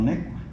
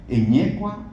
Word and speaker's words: Eñecua: región, insiste en que los mexicanos pronunciaban mal o se equivocaban al nombrar a San Antonio Necua. Siempre insistió él que era San Antonio Eñecua o San Antonio de Eñecua.